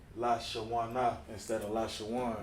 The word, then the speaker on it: Lashawan: Lashawana instead of Lashawan. No, it's Lashawan, right. It's not Lashawana, right, exactly.